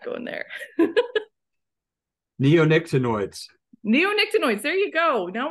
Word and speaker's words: neonicotinoids: even know if I'm going to try to pronounce this, the neoecanoids. I'm not going any further than that. I was waiting for you to pronounce what they all are. Yeah, I'm not going there. Neonicotinoids.